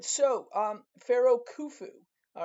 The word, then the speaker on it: Khufu: All right, so um Pharaoh Kufu. All right, here's the uh annunciation. It's pronounced kufu. All right. So like with O's. I know it's it's u but it's kind of has that oo sound.